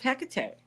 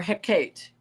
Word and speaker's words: Hecate: it's the tree of HEC or Hecate depending on where you live as to how you pronounce it but she is the